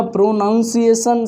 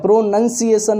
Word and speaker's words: pronunciation: प्रोनंसिएशन होता है PRONUNCIATION। तो हमारा प्रोनंसिएशन सही होना चाहिए, ना कि प्रोनाउंसिएशन।